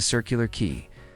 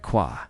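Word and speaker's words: Circular Quay: My brother drives Uber in Sydney and picked up an American couple heading to Circular Key. They pronounced it qua.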